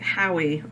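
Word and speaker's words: Howie: and I was like hoe um what's that that's spelled ho o w i e and it's a pform how which is a variant on the name Hugh that's h u g h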